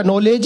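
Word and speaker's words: knowledge: थोड़ी देर तक तो सदमे में रहे, फिर हम दोनों को बोले मुझे एक बात बताओ, जब तुम दोनों को इंग्लिश का नॉलेज ही नहीं है थोड़ी सी तालियां दे दीजिए, आपको तो नॉलेज है ना।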